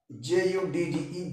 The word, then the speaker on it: judge: तो आप देख रहे हैं मित्रों JUDGE से JU से ज, डी साइलेंट हो जाएगा और इसका उच्चारण क्या पढ़ेंगे हम, डी जी को मिला करके ज, जज, JUDGE जज पढ़ेंगे, ध्यान दीजिएगा।